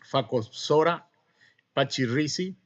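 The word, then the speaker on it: Phakopsora pachyrhizi: Bueno, la roya asiática como agente causal le tenemos a la Phacospora pachyrhizi. No vamos a ahondar en detalles si la PH se pronuncia como F, la CH como K. ¿Ah?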